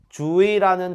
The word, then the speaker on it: 주의: 주의라는 단어에서 첫 음절은 주, 두 번째 음절은 의가 되겠네요. 그럼 이 경우 첫 음절이 아닌 두 번째 음절에 의가 있기 때문에 의로 발음해야 하지만 이도 허용되겠네요.